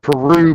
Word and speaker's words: Peru: down the road here it's spelled Peru but they say per yeah per yeah per